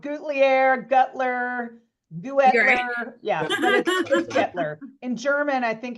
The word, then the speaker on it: Guettler: so easy Staples but the U silent it's just getler getler yeah everybody everybody says it wrong um you know I've been called glier gutter yeah getler in German I think